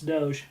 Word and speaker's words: Doge: dogecoin or doggy coin probably yeah mispronounce that you'll get yourself lynched it's doge i know so when